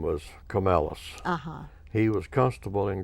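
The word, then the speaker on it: Comilus: Camellus That's pronounced is your Camellus.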